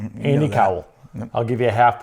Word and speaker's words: Cowell: I'm going to give you Co Cowl. Okay. There you go. There you go. With the hood. Yes. Andy Cowell.